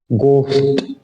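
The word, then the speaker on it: ghost: का मुझे बताने की जरूरत नहीं है ब साइलेंट अंगूठा इसका मतलब है नेक्स्ट 20 नंबर का वर्ड है गोस्ट य है गोस्ट अब इसको घोस्ट नहीं बोलेंगे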